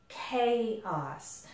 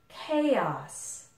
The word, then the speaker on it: chaos: and English adopted it the CH in this case is pronounced like a K sound okay so it's chaos and the a is